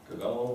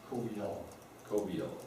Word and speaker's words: Coviello: meeting, is that David Cavello, was that how you pronounce his last name? Coviello, that's right, I forgot it's Italian, you gotta pronounce all the vowels, okay.